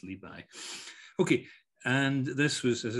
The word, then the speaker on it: Li Bai: Rather than Li Bo, it's Li Bai.